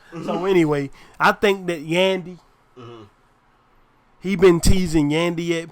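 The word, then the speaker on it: Yandhi: yeah Yandy I know it's supposed to be pronounced Yandy but like I said Kanye West I'm not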